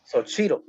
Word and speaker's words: Xochitl: Okay, so last time I was here, I pronounced it in Nahuatl, which is the Aztec language, which is how it's supposed to be, which is Xochitl.